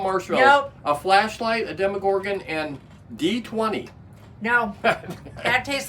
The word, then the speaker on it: Demogorgon: Demogorgon.